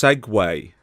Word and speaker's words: segue: one thing to liver it's pronounced Segway Oh shake yeah is